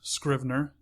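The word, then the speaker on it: Scrivener: It's called Scriber. That's uh it's spelled S C R I V N E R.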